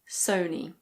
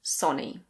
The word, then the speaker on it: Sony: In British English this is Sony Sony. Although some people say "sohnee". If you say that, people will still understand you. In American English it's usually Sony.